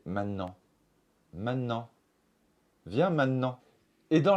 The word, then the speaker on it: maintenant: Maintenant, on peut prononcer maintenant, mais on peut aussi prononcer maintenant.